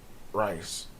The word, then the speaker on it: Rayce: Race Foundation. Rice. Rice. RAYCE. Okay, Rice. Yeah. That's how you Yeah.